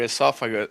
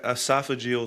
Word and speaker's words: esophageal: because Yeah, because your esophaga your How How do you pronounce esophagus sphincter? Whatever. Esophaga esophageal sphincter.